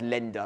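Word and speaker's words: Länder: Therefore it's pronounced lender like it's an E instead of an A. Basically lender are like counties in Germany.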